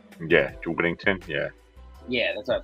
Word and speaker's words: Whittington: Yeah, Whittington.